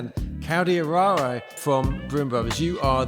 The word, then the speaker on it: Caldieraro: Caldieraro, right? Say it right. You got it right. I'm really bad at Italian pronunciation.